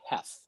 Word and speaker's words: Heath: what it must be Heth it must be pronounced it must be pronounced he the a must be silence you know so the